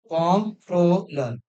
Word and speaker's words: comptroller: It is not controller. People generally pronounce this as controller. It is comptroller.